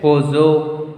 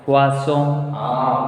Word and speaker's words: poisson: O-E will make wa sound. Vaso. Poiso. Was why zone double S is there? No. Yeah. I told when single S is between two vowels, Two vowels. then S will pronounce the. Here we have double S. Then why is the sound?